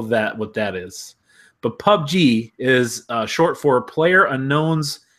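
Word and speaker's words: PUBG: I don't know that what that is but pub G is short for player unknowns battle grounds you know for a fact that that's how they pronounce it pub G or do they say PBG so they say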